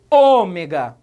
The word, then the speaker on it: ômega: novo eu falo omega eu falo o mega ou eu falo ômega percebeu é a terceira de trás para frente que é mais forte trata-se então de uma palavra proparoxítona eu gostaria de chamar